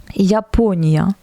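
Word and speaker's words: Япония: Donc ici on a encore la petite matrushka qui nous annonce que la lettre Ya placée dans la syllabe juste devant l'accent se prononce Ya. Japonia, Japonia, Japon.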